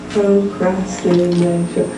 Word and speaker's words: procrastination: it's got one to procrastination five syllables so we understand syllable doing okay that small unit of sound this word is made up of Phi all of them are short sounds except for the a of Asian procrastination now I think in